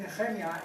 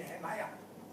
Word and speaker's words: Nehemiah: Actually, I said Nehemia, in the right way to pronounce his name in English would be Nehemiah.